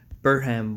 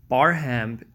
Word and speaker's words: Barham: Los Angeles Department said Burnham what's funny Bob Burnham a nob Burhan Barham pronouncing it wrong sorry Barham equals a hundred and